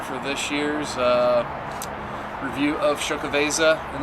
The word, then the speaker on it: Xocoveza: of show cabeza and that's actually how you pronounce it sho Keveza I know a lot of people will have a little trouble that I've heard in many ways but I know for this one so show cabeza for you guys 2019